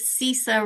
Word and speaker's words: Sisa: Yes, I always have to lead with Sisa rhymes with Lisa or sounds like Lisa.